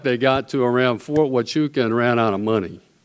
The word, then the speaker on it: Fort Huachuca: Yet, around, I think it's pronounced Fort Huachuca, they have drones and other devices that are incredibly effective.